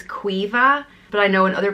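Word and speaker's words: Caoimhe: gentle beautiful and precious it's pronounced differently depending on where in Ireland you are and where I am it's qui vive but I know in other places in Ireland it's pronounced Kiva all the Queen as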